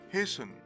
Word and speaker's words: hasten: these words are announced by the british as often soften and hasten here the t is